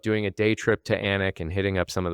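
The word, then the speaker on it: Alnwick: studied, which is called Anch, spelled A L N W I C K. It's a real study in how the Brits pronounce things and that L's are typically silent.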